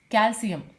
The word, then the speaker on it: calcium: Calcium ending with CIUM, it should be pronounced as calcium.